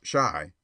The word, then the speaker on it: Chi: boy and printer bow Chi pronounced shy by the way is